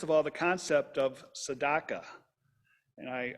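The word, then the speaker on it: tzedakah: all the concept of sadaka and I I learned how to pronounce that word but I remember Neil Sedaka if you're old enough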